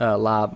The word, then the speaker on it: larb: food in the states have tried lob or sometimes spelled larb on a menu is just